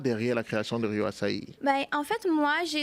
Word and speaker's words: Açaí: Je prononce ça en brésilien, Rio Açaí. Oui, c'est ça. C'est un Acai. Acai, c'est en anglais.